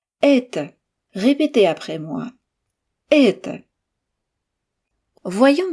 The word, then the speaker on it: Это: Dans ce mot, c'est le premier et qui est accentué. Il est donc long et fort. Et on sait que le o non accentué se prononce comme un a. Mais attention, il ne faut pas que ce A soit trop marqué. Il doit être très court, bas et effacé.